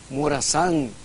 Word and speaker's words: Morazán: a decir arguello, lo va a tener que pronunciar arguello. Morazán, en mayúsculas, claro, porque si no le pone la tilde, el término, el apellido se vuelve Morazán.